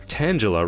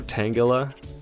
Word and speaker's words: Tangela: this another one from Oswaldo Kato this is Tangela right or tangala however you want to pronounce that check that out a Full Art